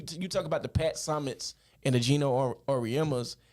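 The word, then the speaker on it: Summitt: remember when the Pat sumall and all that all that type stuff was going on um now that I say her name right what it was Pat Summit I'm sorry said that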